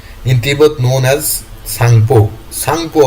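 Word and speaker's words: Tsangpo: Sangpo হবে এখানে T silent থাকবে। Sangpo pronunciationটা হবে Shangpo. In China known as Yerling Jangbo.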